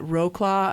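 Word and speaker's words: Wrocław: dragons and then I I know I'm not pronouncing this right but Roclaw I think it's like Rus or something I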